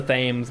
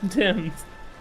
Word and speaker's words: Thames: I used to call this the Thames, by the way, for you British people in chat. I used to call it the Thames before I knew it was supposed to be pronounced Timms. Thompson, Chatham.